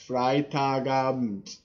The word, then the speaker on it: Freitagabend: though okay so the the bet the E isn't really pronounced much fry taga just you you Germans